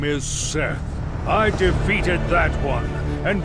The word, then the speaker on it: Seth: main antagonist was set some people say seath i don't know why he doesn't say his name was seth but i still see people trying to pronounce his name as seath did make an epic